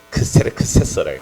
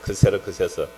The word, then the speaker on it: 크세르크세스: 에스더스에 나오는 그 아하수에르가 그 발음 그대로 하면 크세르크세스래. 크세르크세스.